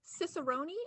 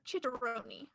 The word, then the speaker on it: cicerone: Your word is two pronunciations, cicerone or chicharone.